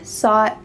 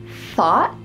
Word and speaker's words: thought: Did you hear thought or sought? You heard the second one, sought. But does this word start with an s? No. Instead, it starts with a th. So, you need to make sure that your tongue is between your teeth and there's that stream of air coming through.